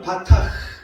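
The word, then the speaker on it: בָּטַח: 신뢰한다는 이 단어는 바타 이렇게 우리가 발음할 수 있어요.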